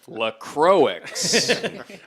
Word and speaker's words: LaCroix: Oh, this dead air brought to you by LaCroix. Yep, that's how you pronounce it. LaCroix.